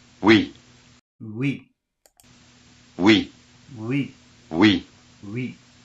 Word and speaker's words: oui: So again, it's very short. Oui, not we.